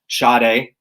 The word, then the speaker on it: Sade: I was introduced to Sade. That's how you pronounce her name.